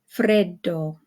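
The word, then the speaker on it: freddo: and then we have the Double D in Fredo Fredo okay so you hold it just a little bit longer than if it were just 1 D and then we of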